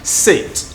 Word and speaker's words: sit: Okay, so now the standard pronunciation is supposed to be sit, feet, minute, biscuit, bait. Okay, so these ones are pronounced seat, feet, beat, eat, believe.